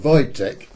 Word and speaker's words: Wojtek: yes that did that would be Wojtek you pronounce it Wojtek you spell it that way thankfully well my